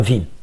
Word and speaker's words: vi: ils vous disent ici Vim, il s'agit d'une version améliorée de l'un des plus anciens éditeurs console qui s'appelle VI, donc prononcé en English VI.